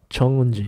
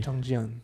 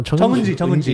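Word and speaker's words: Jeong Eun-ji: Chung-un-ji. Chung-ji-un. Oh, Chung-ji. No. Chung-un-ji. I said it right. Yeah, Chung-un-ji.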